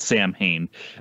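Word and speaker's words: Samhain: in my late teens that it was uh pronounced sewing because we used to have a place in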